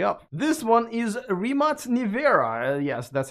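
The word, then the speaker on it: Nevera: you better hurry up this one is rematch nivera yes that's how you pronounce it 2.4 million dollars also 300 miles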